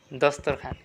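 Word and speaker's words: دسترخوان: মালিক সরদার বা জনাব খান খান মানে কি দস্তরখান খান মানে কি দস্তরখান এখানে ওয়াও কিন্তু উচ্চারণ হয় নাই সবগুলোতে খেয়াল করবেন যে যেকোন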